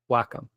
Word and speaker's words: Wacom: possible I guess is what do you do with the moles in the arcade you whack them so that's how you pronounced Wacom right I will back